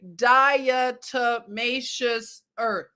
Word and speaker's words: diatomaceous earth: i was just i could never do it diatomaceous earth okay everyone you can now say it correctly